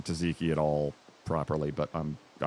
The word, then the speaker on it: tzatziki: Veggie tzatziki white base, our famous 4-cheese blend. Kalamata olives, roasted cherry tomatoes, and artichokes, finished with house-made tzatziki. I don't think I'm saying tzatziki at all properly, but I'm just one man.